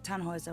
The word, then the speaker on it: Tannhauser: what's your name Tannhauser we'd pronounce it tan Wazza with an umlaut German roots yes my